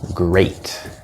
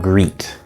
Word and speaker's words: great: ei or E and it will not be pronounced as the e sound for example in the word great this is actually a a so it's not it's not greet although we do have the word greet which